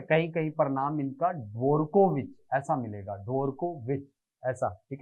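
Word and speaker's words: Dvorkovich: ठीक है, डी जो होता है असल में उनके सरनेम में शामिल है, लेकिन मैक्सिमम जगह पे इसका उच्चारण साइलेंट होता है, इसीलिए वॉर्कोविच या ड्वारकोविच।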